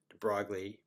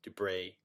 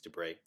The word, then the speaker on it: de Broglie: of different ways spelled de Broglie but it's French and so I believe it's du Brey some people say debroglie as if it's a time but it's I think it's du Brey anyway so here's the